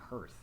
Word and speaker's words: hearth: it's hearth it's not her it's totally hearth okay whatever must be